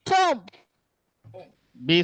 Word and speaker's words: tomb: B is silent, Tom. B silent. B is silent, Tom. Oh yeah, sorry about that. B is silent, exactly. It is actually tomb, not tomb, right?